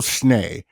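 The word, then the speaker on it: Schnee: It's spelled S C H Ne E but it's pronounced Schneay. Bill Schneay recorded and engineered and mixed the Jackson's live album from 1981.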